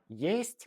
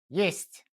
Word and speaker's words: есть: Есть means there is or it exists. It sounds like the English word ist, but shorter. Есть.